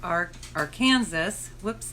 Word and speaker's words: Arkansas: a brown stretch of the Arkansas, pronounced Arkansas, River, on the north by a highway, Route 50, and on the east and west by prairie lands and wheat fields.